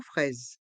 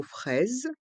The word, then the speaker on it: fraise: O est mué tarteletaise et pour le mot fraise les voyelles a et i se prononce e et le S fait le son Z car il est entre deux voyelles le I et le E le S à la fin du mot fraise est mué et le son Z